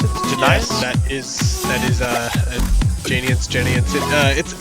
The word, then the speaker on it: Genians: I guess that is how you pronounce it. Yes, that is Genians.